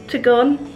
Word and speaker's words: Tegenungan: Tegenungan.